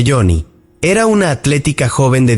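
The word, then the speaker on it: Joni: Johnny, que se pronuncia Johnny, era una atlética joven de 17 años nacida en Maryland.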